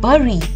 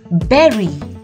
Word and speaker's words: berry: word which is berry when i was a kid i used to read this word as barry but now i know that it's not burry it's berry and lastly famously the l